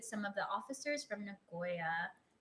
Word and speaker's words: Nagoya: Made forever friends with some of the officers from Nagoya." Did I pronounce that correctly?